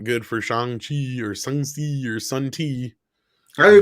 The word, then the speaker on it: Shang-Chi: Shang-Chi. That's how it's supposed to be pronounced.